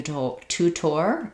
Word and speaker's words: tutor: in our word so the initial T is a released T sound and then this one is flapped so it sounds like to um letters o r at the ends of the word typically just say R rather than or so rather than T